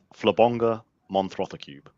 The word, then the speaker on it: Flabonga Monthrothacube: Can you pronounce it for me, Dale? What's the name of the show? Flabonga Monthrothacube.